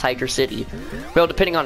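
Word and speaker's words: Hydrocity: see if some people like to call it hide raza t which is not even its name it's actually called it's actually pronounced hydra city real depending on its acts out depending on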